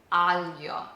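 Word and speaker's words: aglio: Alio.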